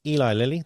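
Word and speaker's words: Eli Lilly: Eli Liy that's how you say it.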